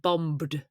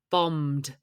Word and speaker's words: bombed: It's not bombed, it's bombed. The second B is silent.